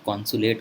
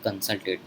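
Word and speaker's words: consulate: ठीक है, यहाँ पे कॉन्सुलेट होता है ना कि कंसल्टेट होता है.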